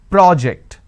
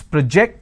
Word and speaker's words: project: it's a verb okay when I am stressing on the first syllable say for example I am stressing on this particular syllable the first syllable which is Pro that becomes a noun this particular rule applies